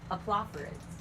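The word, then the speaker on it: Oplophoridae: Aplophorids.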